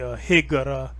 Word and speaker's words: hijra: So words like hijra will be higara instead of hijra. And apparently they use an O. They have Othman instead of Uthman.